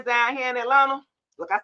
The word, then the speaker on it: Atlanta: If you from here, you don't you don't pronounce it with a T. It's just Atlanta.